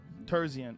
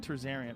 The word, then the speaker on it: Terzian: the the actual numbers did i say his name wrong again terzian i said tarzarian why do i have